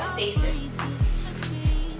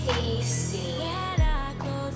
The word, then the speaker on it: casein: I'm looking up how to pronounce that properly because I always get it wrong. I pronounce a lot of words in my videos wrong. Do you notice? It makes me so mad. So let me get this right. Casein. It's casein.